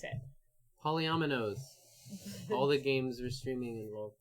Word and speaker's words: polyomino: Newdow and hello hello polyomino not polynomial polynomial would be okay Polly Polly nom nom oh I've been creepy I've been tweeting no it's polyomino I've been doing it